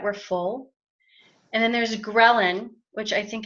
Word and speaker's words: ghrelin: full and then there's ghrelin which I think it's funny that it's spelt that way like Karelin because it's the hunger